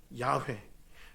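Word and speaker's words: יהוה: 누구를 부르지 않는다 여호와 여호와를 히브리 원어로 얘기하면 발음이 어떻게 된다고요 야회 야외의 의미가 뭐라고요 여호와이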